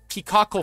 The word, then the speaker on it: peacockal: That's a peacockal feather. Peacockal. Peacock. How do you spell that? So it's like peacock. It's like peacock with a coal at the end.